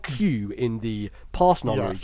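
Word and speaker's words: 九: that was like well in Japanese nine is Q is yeah how you say it yeah so it's literally said as Q so um all the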